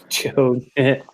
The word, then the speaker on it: Chod: Chode. Yeah, that's how they pronounced it in the cartoon.